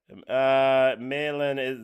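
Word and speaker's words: Malen: Malin that's the pronunciation.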